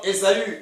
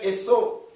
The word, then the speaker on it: Ésaü: Vous voyez, comme Ésaü, ou d'autres l'appellent Esau. Donc ça dépend de la prononciation que chacun accorde à ce monsieur, l'un des fils d'Isaac.